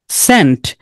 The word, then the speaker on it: scent: হ্যাঁ, আচ্ছা, এখন আসেন সাইলেন্ট লেটার সি এর বেলা, যেখানে কি হবে, সি এর প্রনাউন্স হবে না। ওকে, মনে করেন, দেখেন SCENT, SCENT, সেন্ট।